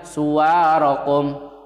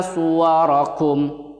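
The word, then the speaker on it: صُوَرَكُمْ: Nah, jadi kata suwarakum seringkali sebagian kalian membacanya suwarakum, padahal wa-nya itu enggak panjang tapi pendek. Kalian bisa lihat di mushaf, enggak ada alifnya di situ. Jadi yang benar fa-ahsana suwarakum, suwarakum, bukan fa-ahsana suwarakum.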